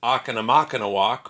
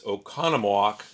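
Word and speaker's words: Oconomowoc: label Industries out of some people would pronounce it aanam makok but it's okonak Wisconsin and um this is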